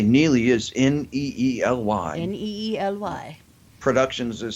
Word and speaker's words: Neely: And we should say Neely is Neely. Neely. Productions is spelled like it's normally spelled, and Inc.